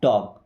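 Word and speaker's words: talk: टॉक properly, L silent है, टॉक, टॉक means होता है बात करो।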